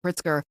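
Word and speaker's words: Pritzker: But um you know, people are pushing back against that uh being led by the governor Pritsker, is that how you say his name? Yeah, Pritskar, who don't want the National Guard troops there.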